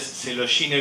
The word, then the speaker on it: Coelogyne: culia se dice entonces Celine viene de coine coer vieron que se dicen serul entonces esto pronuncia celo y se escribe coel y se abrevia con